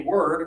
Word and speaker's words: word: And now back up to this one here, the Microsoft product, or everything here is a word, right? Let's hear, guys, 1 syllable.